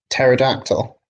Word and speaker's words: pterodactyl: Pterodactyl. Yeah, Dinosaur. this is bathroom humor. Why can't you hear a pterodactyl go to the bathroom? Because the P is silent.